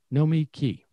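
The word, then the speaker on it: Nomiki: so this guy said n-o-m-i capital k-e-y know me key which i think is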